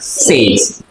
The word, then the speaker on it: sage: हाँ, तो ये क्या है बताओ, सेज है। कोई इसको सागे बोलेगा, कोई कुछ बोलेगा, कोई कुछ बोलेगा, है ना। तो ये क्या है, इसका सही उच्चारण सेज।